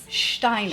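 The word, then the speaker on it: Stainer: Steiner. Steiner. Okay. Spelled last name is spelled s t a i n e r.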